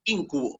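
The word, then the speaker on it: íncubo: Con acento en la I, ese esdrújula. Es una esdrújula, muy bien.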